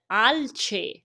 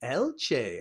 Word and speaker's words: alce: It's almost like Alice, but it's Alce. Alce.